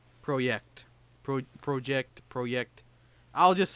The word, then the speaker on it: CD Projekt: Which started my love of CD Projekt Red, and that's how I will pronounce their company name, because that's kind of how it's spelled, and they're Polish. So Project.